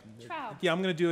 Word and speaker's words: Traub: I'm mispronouncing your name, and I want to get it right. Traub.